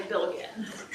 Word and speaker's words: Bilgen: So if you ever feel like your last name is pronounced incorrectly, like I get Bilgen a lot, right? I usually say Billigan, right?